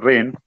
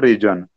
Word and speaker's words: reign: remember properly, student, because this word is Reigen, but G is silent letter. Pronunciation is reign. Reign means kingdom. Rain, reign, that is the different. That is paus, that is different, and this reign is different. Pronunciation is same. It is not region.